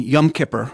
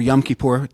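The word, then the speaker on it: Yom Kippur: well there's pride and yum Kipper or yum kipor depending on how you pronounce it uh organizers of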